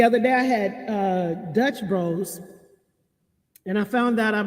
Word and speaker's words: Dutch Bros: so good the other day i had uh dutch bros and i found out i've been saying that name wrong because i caught i thought it was called dutch brothers so today i'm having uh desert eagle coffee